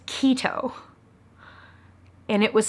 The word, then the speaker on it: Quito: So I went online to look up how do you pronounce Quito. And when it was spelled out phonetically in front of me, I went, no way. It is keto.